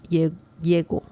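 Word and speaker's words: llego: We don't have an accent mark. So that means the pronunciation is yego.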